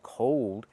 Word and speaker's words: cold: Let's look at the pronunciation difference. When I say cold as the opposite of hot, it's cold. We have the long o like old. O cold And when I say